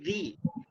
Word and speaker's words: the: Did you notice with each of these sentences, we're adding a little sound between THE and the next word? Listen to the sentence. It's better on the inside. There's a little Y sound there.